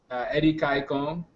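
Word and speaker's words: Edikaikong: But my new Twitter handle, so it's pronounced Eddie Kaikong. It's basically a soup, a Nigerian soup. So the way that's spelled is EDIA KAI KONG.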